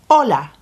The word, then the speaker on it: hola: The word for hello is hola. It is spelt with an H. Without an H, hola means wave, the wave of a sea. With an H, which we don't hear, hola means hello.